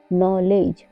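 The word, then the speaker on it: knowledge: ई डी जी ई नॉलेज नॉलेज में भी D silent है क्योंकि डी के बाद जी आया हुआ है रूल नंबर टू जब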